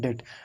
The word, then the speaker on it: debt: तो B silent हो गया तो यहाँ पर लिखा हुआ है डेट।